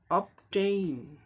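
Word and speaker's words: obtain: और यन के लिए नो साउंड, तो क्या हो जाएगा, अब ये प्रीफिक्स लेवल है, ठीक इसके बाद टेन पर लगेगा, अपटेन, अपटेन, अपटेन, ग्रहण करना, अपटेन।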